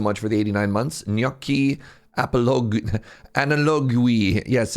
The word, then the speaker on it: Gnorp: I'm thinking of it kind of like the Italian gnocchi, Gnorp. If that's wrong, no, it isn't. What's up, Mahal? Thank you so much for the 89 months. Gnorp Apologue, Analogue.